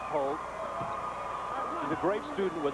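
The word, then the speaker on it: Hoult: with a 6-2 senior this is walter holt h-o-u-l-t pronounced holt he's a great student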